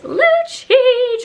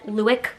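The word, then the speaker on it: Lucic: I love big shirts, as you guys know, and it's Luchich, or as John Cherry says, Luick.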